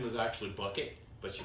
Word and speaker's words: Bucket: sound so awesome her last name was actually bucket but she pronounced it bouquet and it just it's it's funny she has